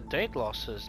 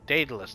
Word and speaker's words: Daedalus: nice oh that's for date losses that date daedalus thank you lost daedalus yeah well it might you could i suppose you can pronounce either way ah the liar right